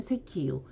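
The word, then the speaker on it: 石油: 자, 석유할 때는 세키유, 암석할 때는 간세키, 자석할 때는 지샤크로 발음을 합니다.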